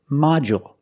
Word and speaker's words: module: this word module with module distresses on the first syllable so the second syllable is short mod and we see that D makes the J sound like juice and jump module d u in the middle of the word usually makes the J sound so a module